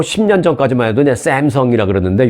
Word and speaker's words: 삼성: 전까지만 해도 삼성이라 그러는데 요즘은요 샘성 하는 사람들도 많이 없어요 요즘은 미국 사람들도 삼성 뭐 안 되면 삼성이라 하든지 삼성이란 우리 한국식 발음을 하는 걸 그들도 당연히 그렇게 해야 하는 것으로 생각하고 있습니다 자 어찌됐든 삼성전자 등 그